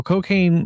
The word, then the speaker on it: Cokane: as tall as Kane, but it's spelled Cokane, like Kane the wrestler too. And there is some crossover with him. So Cocaine, like he comes out there and he does some moves.